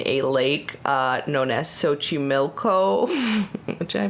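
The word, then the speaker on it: Xochimilco: exclusively lives in a lake uh known as sochi milko which i pronounced correct very good so honestly i it's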